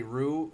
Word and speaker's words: roux: and in the video i also say rue and i i spell it r-u-e it's not r-u-e it's a french word so it's r-o-u-x so anyway that doesn't